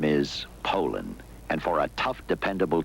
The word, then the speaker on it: Poulan: And for over 30 years, they've been mispronouncing our name. Poulan. Poo. So we'd like to remind you that our name is Poland.